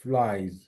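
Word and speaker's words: flies: ফো, flying, flying, ফ্লাইজ, যদিও বা এস আছে কিন্তু উচ্চারণ হবে যার মতো ফ্লাইজ। তাহলে একসাথে যদি বলি ফাদার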